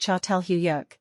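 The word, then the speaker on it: Çatalhöyük: north indicating long-distance trade cattle hoyuk pronounced chatel huyuk means Fork mound in Turkish a reference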